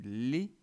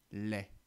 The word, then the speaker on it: lait: faire la distinction et il m'arrive souvent de dire du lait plutôt que du lait donc on va essayer de faire bien attention à le prononcer comme et comme dans flèche alors et comme dans